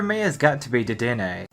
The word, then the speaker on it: Dedenne: Number 5 for me has got to be Dedenne. It's pronounced Dedenne. Get your foreign out of here! We only speak Murican here! Kalos is based on French, so excusez-moi for thinking it's a French pronunciation.